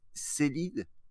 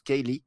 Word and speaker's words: Ceilidh: En fait, Célide, comme je le dis comme ça, hein, donc ça se prononce Kaylee effectivement, parce que ça donnait le prénom Kaylee après K-A-Y-L-E-I-G-H.